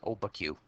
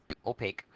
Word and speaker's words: opaque: so that's translucent opaque opaque it is not pronounced oba Q opaque objects absorb and reflect